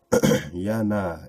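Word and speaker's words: יוֹנָה: so let's keep going Yana is the Hebrew way to pronounce the name familiar to all of us Jonah who was swallowed by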